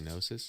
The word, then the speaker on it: gnosis: Like in gnosis, you don't say I gnosis, agree. you say gnosis.